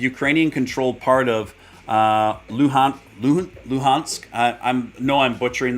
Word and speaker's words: Luhansk: five seconds ago a ukrainian controlled part of lunsk i think that's how you pronounce it announces total evacuation the ukrainian controlled part of uh luhan luhansk i i'm no i'm butchering that it's l-u-h-a-n-s-k